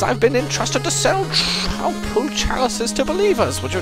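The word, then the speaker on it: Troupple: Half trout and half apple. Pronounced like a mouthful. Trouble.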